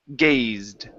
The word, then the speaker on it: gazed: Instead of gazed, the word is gazed. Gazed. Almost. You're saying gay. You're pronouncing this e. Okay. So, listen carefully. I'm going to say gaz. Gazed. gazed. There you go. That's the sound.